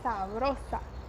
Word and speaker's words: sabrosa: sentido também de saborosa, mas presta atenção na pronúncia, que é sabrosa.